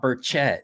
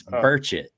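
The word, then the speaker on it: Burchett: not saying it right it's not berchette it's birchit it's that's the tennessee way to say it dan warren i apologize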